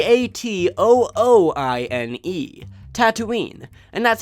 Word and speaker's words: Tatooine: 8000 I and II Tatooine and that's how it's spelled two with two O's just like there are two suns the beginning sounds just like tattoo not to do Tatooine is generally